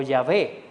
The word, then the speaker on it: Yahvé: Los expertos señalan que la pronunciación debe ser Yahweh o Yahvé.